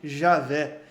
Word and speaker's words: Javé: Mas hoje o que nós entendemos mais corretamente, que a pronúncia mais correta seja Yahvé, no português, Javé. Então é mais correto falar Javé ou Yahvé do que Jeová. Mas virou uma interpretação corrente, uma pronúncia corrente no português se referir a Deus como Jeová.